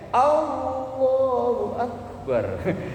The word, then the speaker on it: Allahu Akbar: Yang misalnya ada imamnya bacanya Allahu Akbar, ngikutin sambil sujud, lah keliru. Nanti huruf ba dalam lafaz akbar nggak boleh dipanjangkan, dan huruf hamzah dalam lafaz Allahu Akbar juga tidak boleh dipanjangkan.